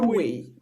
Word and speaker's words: Sulwe: Alors, le prochain livre, c'est Soul, je sais pas comment on prononce ça, Sulwe. Soulway.